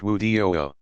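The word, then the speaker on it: وضوء: Prior to each act of ritual prayer, Muslims perform a brief purification called wudu, pronounced wudu.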